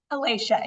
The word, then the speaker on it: Alasha: the way I want to make sure I'm pronouncing your name right I should have said it before is it Alicia Alicia yeah Alicia okay so I've got it right